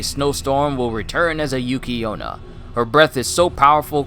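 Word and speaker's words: Yuki-onna: Pronounced Yuki Onna, yokai women enveloped in a haze of icy cold air, also treated as incarnations of snow.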